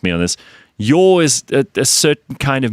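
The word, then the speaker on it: Yaw: Lee Yor. His real surname is Yor? It's Yor. As in Y-A-W.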